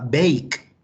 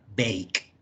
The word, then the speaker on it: bake: no se pronuncia ejemplo la palabra bake vemos que en dos vocales pero yo no digo baking la e no suena realmente la pronunciación basta la k entonces cuando tenemos dos vocales de la palabra pues normalmente suena como su sonido largo bake otro ejemplo sería seis